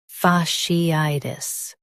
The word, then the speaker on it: fasciitis: Fa, she, I, tis. Fasciitis. Emphasize I and soften tis.